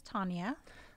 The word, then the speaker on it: Thanya: You've never been Thanya, right? Because it's with an H. My name is Thanya. With an H. The H is silent?